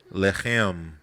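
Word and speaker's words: לֶחֶם: Lechem. Lamed, het, mem, I believe. The word for war is lacham. It's actually spelled almost exactly the same. Lacham. It's a different pronunciation.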